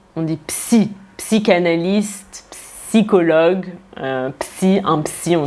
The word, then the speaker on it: psy: Attention, en français, on prononce bien le P. On dit psy, psychanalyste, psychologue, un psy, on dit souvent je vais chez le psy.